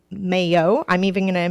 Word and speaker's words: Mailhot: name but i don't even know how to pronounce it so i go by nail hot i'm a three-year high school french student so